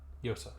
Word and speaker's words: Yosa: How am I supposed to pronounce that? Yosa or Yasa? Yes, Yosa. Okay.